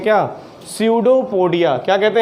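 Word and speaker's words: pseudopodia: और इस नकली पैर जैसे स्ट्रक्चर को कहते हैं क्या, स्यूडोपोडिया। क्या कहते हैं, स्यूडोपोडिया। इसमें पी साइलेंट है तो स्यूडोपोडिया इसको कहते हैं।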